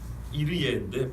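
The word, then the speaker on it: יראה: 본 뜻은 여호와 이르예인데 발음을 우리는 좀 쉽게 한다 그랬죠. 그래서 여호와 이레라 했다고.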